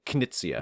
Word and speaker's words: Knizia: Reiner is actually like Knizia.